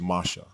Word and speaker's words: Moshe: two it is pure Hebrew and the correct pronunciation is Masha this word is not to be confused with